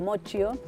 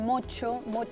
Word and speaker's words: Moccio: Mi apellido, Moccio, italiano, siempre lo escribían mal, se pronunciaban mal. Y encima en España el mocho, viste que decís mocho, Exacto.